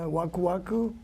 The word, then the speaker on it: Waku Waku: Okay, I'm part of the Waku Waku, and you guys say right.